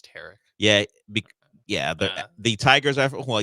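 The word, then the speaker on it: Tarik: Tarek Skubal. It's a Tarek. He pronounces his name Tarek Skubal. Eric? Yes, Eric with the T.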